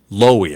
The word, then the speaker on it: Lowey: this yeah uh nita lowry lowey loewy i guess is how you pronounce it l-o-w-e-y uh she is uh